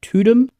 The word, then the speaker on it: Tudum: I think, I was reading some stuff on, I've got no idea how to pronounce this website, Tudum.